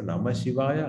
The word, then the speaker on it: Namah Shivaya: So Namah Shivaya are the 5 syllables. Na, Ma, Shi, Va, Ya. Right?